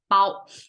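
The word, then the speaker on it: 包: It pronounced as bao.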